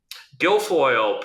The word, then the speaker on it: Guilfoyle: How do you pronounce his last name? Guilfoyle.